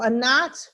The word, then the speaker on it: Anat: and you'll see it i'm pronouncing it like you would say it in hebrew um but that's that's